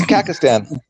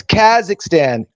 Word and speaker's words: Kazakhstan: It's It's Kakistan. Kazak. No, it's Kazakhstan.